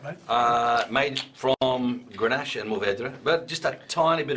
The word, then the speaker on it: Mourvèdre: it's kind of, that's the French pronunciation, I suppose, Mourvèdre.